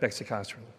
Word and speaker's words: Bexicaserin: bit about our compound it actually is pronounced beicin so just in case you really wanted to know um so beicin is the next Generation